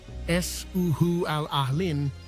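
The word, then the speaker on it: Eas a' Chual Aluinn: The name, pronounced S-Uhu al-Ahlin, means waterfall of the beautiful tresses in Gaelic, a poetic nod to the way the water Alex.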